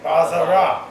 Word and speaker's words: Bazara: I pronounce it I'll show Bazara, you.